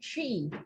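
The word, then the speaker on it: Twi: They also have, I think, over 50 different languages back home, but majority of people speak Tree, which is spelled T-W.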